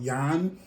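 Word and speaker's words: yuan: Chin Chinese because apparently theirs here is called Yan or it's spelled yua n and Yin is y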